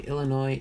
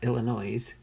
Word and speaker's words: Illinois: Anyway, Illinois is pronounced with, Illinois. It's not Illinois, Illinois. Is pronounced with a silent S.